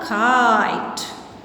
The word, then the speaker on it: kite: Is it a kit? No, because we have a magic E here. अब ये kit नहीं है. What is this now? Kite.